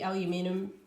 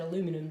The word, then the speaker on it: aluminium: I think it might just be aluminium. Aluminium? I think you guys in the US pronounce that aluminum, don't you? But yeah, aluminium for us in Australia.